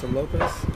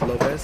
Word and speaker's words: Lopes: Lopes in Portuguese, you say Lopes, not Lopes, but internationally Lopes because my name is English name. So Lopes is more easy for the people to pronounce here.